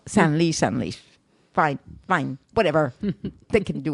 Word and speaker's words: Senlis: And I think that might be said Senlis. Do they pronounce the S? I think so. Well, I never know. Okay. Yeah, Senlis, yes. You never know with the S at the end, so there you go.